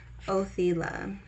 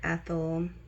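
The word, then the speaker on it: Othala: Oila is how I pronounce it. Um, you can also pronounce it Ethel.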